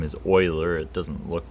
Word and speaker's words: Euler: with the letter e this person's name is Euler it doesn't look like that but that's how we pronounce it and this he's a mathematician and